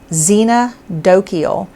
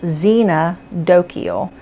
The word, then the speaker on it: xenodochial: pronounce word our word of the week is xena dokiel it's spelled and you'll see it on the screen but i'm going to go ahead and tell you x-e-n-o-d-o-c-h-i-a-l xena dokiel and what it means is friendly to strangers